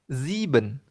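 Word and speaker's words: sieben: zes z angka 7uh Huruf S dibaca Z. Ziben.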